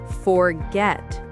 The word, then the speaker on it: forget: Most two syllable verbs have stress on the second syllable. Oh, so it's the opposite. Exactly. Listen. Begin. Begin. Arrive. Arrive. Forget forget.